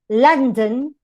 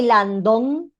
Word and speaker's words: London: any schwa for example when you say london you don't say landon or if you say london if you say how to say london okay london if you say lange it's wrong it's london together that is called consonant